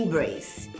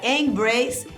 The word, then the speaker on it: embrace: Podemos contar 3 vogais em embrace: E, A e outro E. Mas vamos subtrair esse E final que nós sabemos que não é pronunciado no inglês. Então, temos 2 sons vocálicos. Por isso, podemos concluir que a palavra embrace tem apenas 2 sílabas.